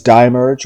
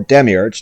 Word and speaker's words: Demiurge: Reflection, Chaos, Rebirth, as well as Dimerge, or Demiurge, depending on how you want to pronounce that, and Virtual.